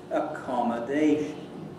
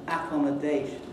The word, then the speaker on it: accommodation: word like accommodation, accommodation, the main stress is on the dation bit, and the secondary or subsidiary stress is on the second syllable, accommodation. And yet you hear people whose English is almost perfect saying accommodation. Accommodation, putting the secondary stress on the first syllable.